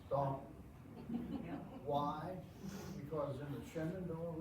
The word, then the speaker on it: Stanton: It's Staunton. Why? Because in the Shenandoah Valley, there is a school called Staunton. Settlement called Staunton. And that's how you pronounce it, never mind that it's spelled S-T-A-N-T-O-N.